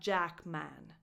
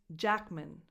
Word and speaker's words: Jackman: Jack, which is the stressed part of his last name, Jackman. That syllable is unstressed, so the vowel is just a schwa. It's not Jackman. It's Jackman.